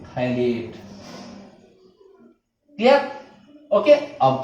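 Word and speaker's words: phthalate: Okay, यहां पर pH silent है, अमोनियम थैलेट, क्लियर।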